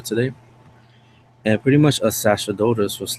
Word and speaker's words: Sacerdotus: I used the name Sacerdotus, which in reality is pronounced Sacerdotus, but it's the Latin phrase.